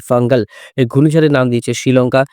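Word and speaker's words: Fengal: রয়েছে ঘূর্ণিঝড়ের নাম হচ্ছে ফাঙ্গাল ফাঞ্জাল ফাঞ্জাল কোন কিছুই নয় যেসব মিডিয়া বলছে ফাঞ্জাল ফাঞ্জাল এগুলো কোন কিছুই ঘূর্ণিঝড়ের নাম নয় ঘূর্ণিঝড়ের নাম হচ্ছে এফ এ এন জি এ এল ফাঙ্গাল এই ঘূর্ণিঝড়ের নাম দিয়েছে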